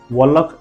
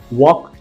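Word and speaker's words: walk: टॉक, वॉक एंड काम, जिसको पढ़ना नहीं आता वो टॉलक, वॉलक एंड कालम पढ़ता है, ऐसे नहीं पढ़ना है। टॉक, वॉक एंड काम।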